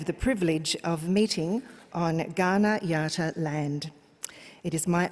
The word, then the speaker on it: Kaurna: we're gathered on today, Kaurna country, the Kaurna people, spelt with a K but pronounced with a G.